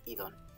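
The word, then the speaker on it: εἶδον: It's like a falling tone here. Eidon. But it's Eidon in medieval Greek and modern Greek too. Eidon. That would be the pronunciation, modern Greek.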